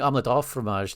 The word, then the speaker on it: omelette au fromage: Oh, you're saying omelette au fromage, not du fromage?